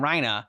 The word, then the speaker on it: Reiner: Like it's spelled Reiner, so I'm like, okay, Reiner, like, and that's how I would say it. But now that there's like, I hear them saying Rhina, so that's why I'm